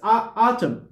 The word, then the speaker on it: autumn: end is mute this in here we don't pronounce it it's autumn autumn autumn mm-hmm and stop autumn or fall